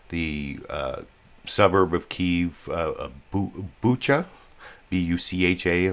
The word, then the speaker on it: Bucha: B-U-C-H-A, I think that's how it's pronounced, Bucha.